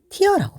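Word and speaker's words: tear: 명사로 눈물이라는 뜻도 있어요 눈물로 사용될 때는 티어라고 발음을 하죠 이 문장을 정리해서 다시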